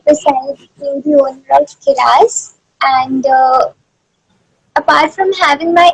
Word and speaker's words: Kiraas: Is that the way to pronounce Kiras? Yeah, it's Okay. Kiraz.